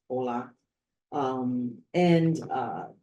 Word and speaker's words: hola: be hola oral and remember H is silent in Spanish so it's hola um and uh saying